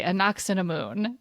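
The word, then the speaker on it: Ankhesenamun: Anksunamun. I That's feel not like they say quite like how they say it. Anoxunamoon. It's always right how it's spelled. It's like missing Right? a syllable. They say Anoxunamun is how they say Yeah, it.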